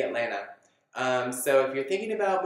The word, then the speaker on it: Atlanta: And then the last piece, fun fact, is that it is pronounced, as you may have heard in this video, Atlanta, not Atlanta. So if you want to sound like a local, say Atlanta.